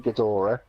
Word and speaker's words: Ghidorah: you've got yeah King see if I can pronounce it books as King Ghidorah there we go which is the three-headed one